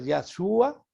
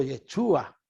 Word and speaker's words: Yeshua: O sea que en hebreo el nombre de Jesús se puede pronunciar Yahshua o Yeshua en hebreo y en griego Jesús, el nombre de Jesús.